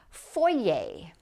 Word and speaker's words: foyer: But all these words are going to end in the sound A. Saute. This is a word that's used often in cooking. Foyer.